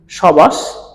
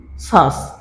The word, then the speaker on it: শ্বাস: শব্দের প্রথমে শব্দের প্রথমে শব্দের প্রথমে কিন্তু ব ফলা গুলো আছে কিন্তু ব ফলার উচ্চারণ হচ্ছে না আমরা কি কোন সময় বলছি সবাস আমরা কি কোন সময়